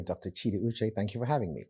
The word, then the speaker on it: Chidi Uche: all the way in from Jacksonville Florida Dr Chi uch welcome thank you do miss my name is Dr cheetah uch thank you for having me absolutely and you know I made sure I pronounced that precisely you're the founder of Jacksonville